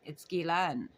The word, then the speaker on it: Ghislaine: Ghislaine Maxwell, she says, pronouncing her first name Ghislaine. Ghislaine. Ghislaine. Ghislaine. It's Ghislaine.